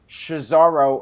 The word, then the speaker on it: Cesaro: All right, next up we had the Hardys versus Cesaro, or is it... How do you pronounce it?